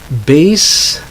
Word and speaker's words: bass: aw axis next pair you have base meaning the lowest part of the musical range or it's a musical instrument also I said just a long a base versus bass okay that's a type